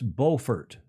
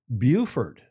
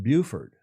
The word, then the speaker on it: Beaufort: In North Carolina, it's Beaufort. But in South Carolina, further south, Jim Sears says it's pronounced Beaufort. B E A U is pronounced Beaufort. Okay. Well, I should have said Beaufort because we're in South Carolina, not North Carolina.